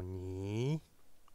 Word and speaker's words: 你: Le mot ni, donc c'est le ton qui descend et qui monte.